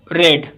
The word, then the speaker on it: read: यहाँ इसका आंसर रहेगा सेकंड, हैव रेड। रीड की आपको तीनों फॉर्म सेम रहती हैं, पहली, दूसरी, तीसरी, READ, रीड, रेड, रेड, ऐसे वैसे प्रोनाउंस किया जाता है, लेकिन तीनों फॉर्म सेम होती हैं।